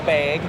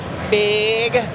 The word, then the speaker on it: bag: it bag oh oh I say it with like an e but like Liz here at funco I mean she goes like hard big oh you should try